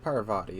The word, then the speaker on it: Parvati: this time I've got already forgot how to pronounce name hi sir Parvati I think Parvati is correct yes I don't I let her